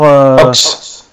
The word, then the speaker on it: Ochs: Elinor Ochs. Ça s'écrit O-C-H-S.